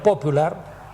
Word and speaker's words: popular: a utilizar el término popular, con el acento en la O, como el vocablo inglés, para nombrar a la